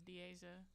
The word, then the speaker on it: Deasia: last year um well to pronounce her name is deasia and for your question